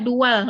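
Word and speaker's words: دول: anil haimanati sakofiyah di ba'di daulit taknulu Itu bacanya dual, bukan daulon itu. Dual, ya.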